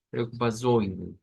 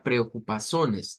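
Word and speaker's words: preocupações: Ahora, no es como decir sones, no es esa terminación. No sería preocupazones, no, es preocupazoines, preocupazoines. O sea, en la nasalización le da o le llega a inyectar como ese sonido como que fuera una I ahí en medio.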